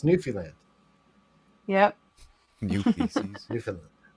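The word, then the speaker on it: Newfoundland: uh yeah new how do you say it New Finland new I looks like New Foundland but it's not how you say it yeah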